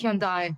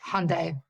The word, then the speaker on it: Hyundai: as something else and by the way it's Hyundai not not Hyundai makes sense we just say Hyundai but you get in